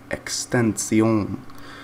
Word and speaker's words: XXXTentacion: with that being said the proper way to pronounce his name would actually be with a french accent extension what now i'll spell